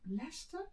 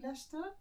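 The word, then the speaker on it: Leicester: stayed in the same leester was it is that how you say it Lester yeah leester is that close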